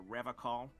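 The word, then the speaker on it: Revachol: I've been tempted on occasion, but someone has to stay strong for Revacol. How do Revacol? you pronounce it? He's pronouncing it like alcohol.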